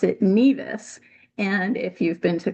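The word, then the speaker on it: Nevis: to the island, you'll know that natives there pronounce it neas. And if you've been to Columbia University, you know that they pronounce it nevice.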